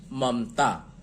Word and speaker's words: ममता: उसी तरीके से ममता, पहला म है और मात्रा नहीं है और अभी दूसरे म पर भी जाना है, यहां ए लगेगा। दूसरा एम आधा, दूसरा जो म है इसकी उच्चारण आधी के ही जैसी होती है, और फिर हमारा सारा जोर चला जाता है ता पर, तो त का अंग्रेजी टी और आ की मात्रा है इसलिए ए, ममता।